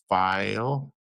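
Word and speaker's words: Pfeil: Oh yeah, I got a tiny little palm set for like detail work, and then I got some file. That's how you say it, eh? Yeah. Yeah, File.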